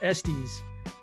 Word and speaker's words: Estes: And we have our special guest today, Estes, pronounced Estes.